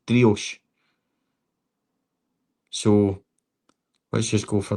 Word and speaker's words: Driouech: It seems to be that most are saying it's Driouech.